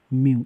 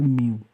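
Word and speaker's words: μ: Micro, micro মানে মিউ, এর যে রাশিমালাটাকে বলে এটার মানে এটা উচ্চারণটা হবে মিউ, ঠিক আছে।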